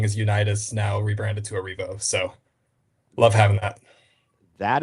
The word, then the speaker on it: Arrivo: Is it Arrivo or Arrivo? Tell me the correct pronunciation of that. It's Arrivo.